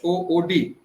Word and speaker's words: HOOED: What is HOOD? HOOED? Hood. Hood. Okay. The E is silence. Okay. HOOED. E is Yeah. silence. E is silent.